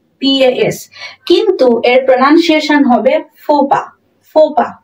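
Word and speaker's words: faux pas: ইউ এক্স মনে হচ্ছে এর প্রনান্সিয়েশন হবে কি ফক্স ফক্স আর এটা এটা এখানে প বানানটা হবে পি এস পস কিন্তু এর প্রনান্সিয়েশন হবে ফোপা ফোপা কি হবে ফোপা হবে ফোপা ফোপা ঠিক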